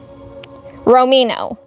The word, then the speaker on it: Romino: Romino. That's how you pronounce his name. Romino.